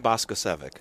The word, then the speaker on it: Boskocevic: Dan Boskocevic. All right, That's the English way of pronouncing it. Boskocevic. You don't want to hear the Serbian pronunciation.